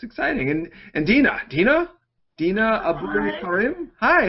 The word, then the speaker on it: Dina Abou Karam: And Dina Abou Karam. Hi, how are you? No, you had just said it right. It's Dina Abou Karam.